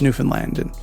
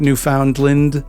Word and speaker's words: Newfoundland: John's on the eastern coast of Canada's easternmost province, Newfoundland. And that's how you pronounce that, by the way, not Newfoundland or Newfoundland or Newfoundland.